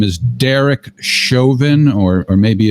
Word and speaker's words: Chauvin: voice of the cop whose name is Derrick Chauvin or maybe it's pronounced joven CH o u VI n that's the name